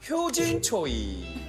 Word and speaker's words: 효진초이: 자, 계속해서 다음은 우리 효진초이. 효진초이. 최효진 씨. 이렇게 본명. 맞아, 서장훈 씨. 맞아, 서장훈 씨. 효진 초이면 누가 봐도 최효진 씨 아니야? 맞아. 영어 발음 최를 초이하니까.